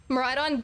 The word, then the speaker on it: Miraidon: Miraidon definitely is pronounced with the middle syllable, like with it being like ride on.